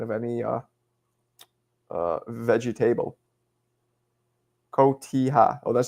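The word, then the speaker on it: Cotija: Kotiha.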